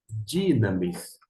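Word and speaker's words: δύναμις: Dinamis, ou numa pronúncia mais acertada, porque aqui no Rio de Janeiro a gente fala mas a pronúncia seria dinamis.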